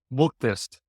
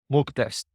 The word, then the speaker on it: Muuktest: Muuktest. It's M-U-K test. Muuktest.